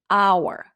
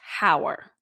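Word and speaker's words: hour: is a consonant letter in the word our it produces a vowel sound our not hower however in the word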